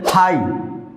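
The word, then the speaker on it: high: হাই, হাই means উঁচু বা উচ্চ। হাইট, উচ্চতা। ফাইট, যুদ্ধ। প্রত্যেকটি ওয়ার্ডের সাথেই জিএইচ আছে, প্রত্যেকটি ওয়ার্ডের সাথেই জিএইচ আছে এবং কোনোটারই উচ্চারণ হয়নি।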